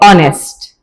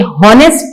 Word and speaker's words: honest: अब यहां पर ये जो H है ये साइलेंट है, ठीक है? ये लिखा जाएगा, स्पेलिंग का हिस्सा होगा, लेकिन बिल्कुल खामोश होगा। ये साइलेंट लेटर है और ओ से इसकी साउंड शुरू होगी। तो ज़हन में रखिए कि ये हॉनेस्ट नहीं पढ़ेंगे हम, बल्कि क्या पढ़ेंगे? ऑनेस्ट।